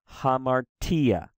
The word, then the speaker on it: hamartia: boom you hit it so it's ha maar T and we try to say the T louder hamartia hamartia hamartia right this one again there's